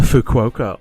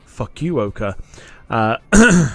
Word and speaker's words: Fukuoka: We are flying out of Taipei this evening, and we are going over to the Fukuoka or Fukuoka, depending on how you want to pronounce it.